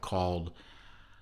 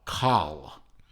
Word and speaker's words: Kaal: from a uh a new company a startup called i'm i'm hoping to pronounce this right uh call um k-a-a-l-col now that watch i'm sorry that